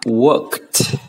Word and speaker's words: worked: Thì ở đây chúng ta sẽ phát âm là worked.